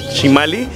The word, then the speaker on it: Chimalli: redes sociales mariachi chimali se escribe chimalli como con doble l se pronuncia chimali y el número de